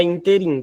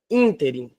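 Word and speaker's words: ínterim: tônica é antep interin não é interin tá é interin tá a sílaba tônica é a antepenúltima portanto a palavra Inter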